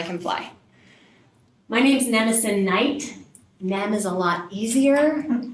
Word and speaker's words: Knight: My name's Nemison Knight. Nem is a lot easier. Double silent letters at the beginning of my first and last name is crazy.